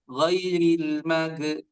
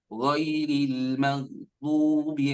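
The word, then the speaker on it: غير المغضوب: Sama ketika kita baca di ayat ke-7 di surah Al-Fatihah. Ghairil mag. Nah, ada yang baca ghairil mag. Nah, itu keliru ya. Kenapa? Karena gha ini bukan qalqalah. Maka kita baca ghairil maghdubi alaihim.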